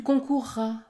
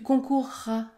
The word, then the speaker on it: concourras: ou concourir par exemple dans le futur de ces verbes vous allez prononcer un r double écoutez bien je courrai je courrai il acquerra il acquerra tu concourras tu concourras dans ces trois verbes